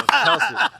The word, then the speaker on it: Kelce: All right, I'm going to take this player just because I need to pronounce his name correctly and redeem myself. Travis Kelce. Travis Kelce. Yeah, Kelce.